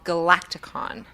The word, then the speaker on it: Galaktikon: in studio talking about his brand new album, Galaktikon.